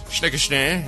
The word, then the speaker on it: Snickerschnee: Can I get a shout-out to Snickerschnee? Is that the way you pronounce it? Snickerschnee, yes.